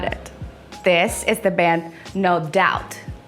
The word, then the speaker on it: No Doubt: This is the band No Doubt. You can't say dopt, dap, whatever you say. It's no doubt about this is the iconic band.